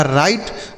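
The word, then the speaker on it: write: तो यहां पर बच्चों डब्ल्यू साइलेंट होता है। इसको नहीं पढ़ते हैं। तो आर से लिखेंगे र। आई का उच्चारण आई होगा और टी ई से पढ़ेंगे ट यह लिखा राइट मतलब होता है लिखना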